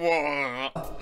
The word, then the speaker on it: water: is here in the British accent, we either pronounce the T, like water. That's how I would say it Water. personally, water. Water. Or you just don't pronounce it at all, water. Now, Water. Woha. Woha. Boah, das ist schwer. Das nicht zu pronouncen ist schwer. Woha. Third way, which you'd hear in other Woha. accents, is to pronounce the T as a kind of like a D.